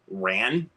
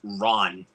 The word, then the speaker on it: Ran: it's technically pronounced as ran as it may look on the spine but it's actually pronounced Ron so yeah I recommend